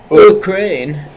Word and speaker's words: Ukraine: You gotta pronounce the U like, Ukraine.